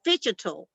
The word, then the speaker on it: phygital: And they have coined a phrase, a new expression, phygital, I have to say it right, phygital, which is the physical sphere and the digital sphere as a result of that combination being so important.